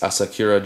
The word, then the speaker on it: Asakura: It's Asakura Jigs. I believe that's how you pronounce it.